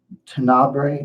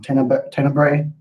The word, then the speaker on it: Tenebrae: Phenomenon is interesting, and Tenebrae, or I always pronounce that wrong, Tenebrae.